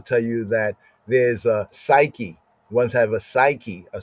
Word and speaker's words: psyche: The old way of pronouncing the word suke, the later day Oxfordian way of pronouncing suke, right? Suke is like the old Greek suke, right? Modern times we say psyche.